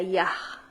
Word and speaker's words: Yah: Yaj y así es como se pronuncia.